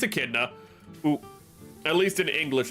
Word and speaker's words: Echidna: No, I know Echidna. I was, like, thinking of how to pronounce her name. It's Echidna.